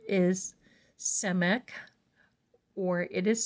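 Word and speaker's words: Samekh: this card is blue the Hebrew letter is semic or it is spelled s a m e k h the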